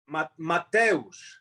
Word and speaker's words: Mateusz: Mateusz. Oh, Mateusz.